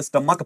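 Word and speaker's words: stomach: Church पढ़ा लेकिन इसको स्टमक पढ़ेंगे, तो ये चा, इस सीएच को चा पढ़ा गया और इस सीएच को का पढ़ा गया।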